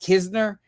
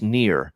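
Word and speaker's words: Knehr: jose irena versus reese i don't even know how to say his last name kisner i don't know pass game there nothing to do with this that would be near reece near on the mound here for the uh san diego a padres silent k is just brutal for me ian let me tell you that the silent gay is brutal yeah rhys nearer far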